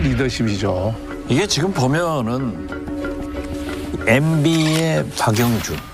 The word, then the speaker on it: 박영준: 이게 지금 보면은 MB의 박영준. 형준이 아니라 박영준. 발음 조심하셔야 됩니다. 형자하고 다르지.